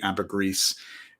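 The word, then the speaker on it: ambergris: book on Amber gree according to the book floating gold it should be Amber gree but I still default back to Amber gree like G and French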